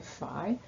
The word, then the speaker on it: phi: this greek letter here so it rhymes with pi but it's spelled phi any time you get